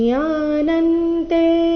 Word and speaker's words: ಜ್ಞಾನಂ: ಜ್ಞಾನಂತೆ ಹಂಸ ವಿಜ್ಞಾನಂ ಇದೌ ವಕ್ಷಮ್ಯಶೇಷತಃ ಯಜ್ಞಾತ್ವ ನೇಹ ಭೂಯೋನ್ಯಚ್ ಜ್ಞಾತವ್ಯಮವಶಿಷ್ಯತೆ ಜ್ಞಾನಂತೆಹಂ ಜ್ಞಾನಂ ಅನುಸ್ವಾರದ ಉಚ್ಚಾರಣೆ ಇಲ್ಲಿ ನ ರೀತಿ ಕಾರಣ ಮುಂದೆ ತ ಬಂದಿದೆ ತೇಹಂ ಇಲ್ಲಿ ಅನುಸ್ವಾರದ ಉಚ್ಚಾರಣೆ